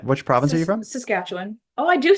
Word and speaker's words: Saskatchewan: So the proper way to pronounce it is like it's spelled with I's instead of A's. So it's Saskatchewan, not Saskatchewan.